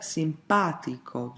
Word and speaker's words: simpatico: But, there are words that pronounced differently, for example: "simpatico"--third from the last.